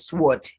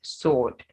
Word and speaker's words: sword: sword answer and two so that word is not sword it's sword the w is silent let's appear silent when